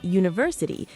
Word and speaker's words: university: But then a university. Even though university starts with U, a vowel, it actually starts with a U sound, like the letter Y.